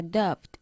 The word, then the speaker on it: doubt: Last week they had a doubt. Vale, me alegro que la hayas pronunciado así porque la B en la palabra doubt, duda, es muda, ¿vale?